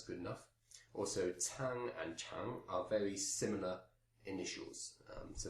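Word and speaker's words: qiang: That's a tang, and the character here is pronounced chang, Q-I-A-N-G.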